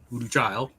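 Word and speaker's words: Voodoo Chile: her son, who was Voodoo Child, which is spelled like chili, but Voodoo Child.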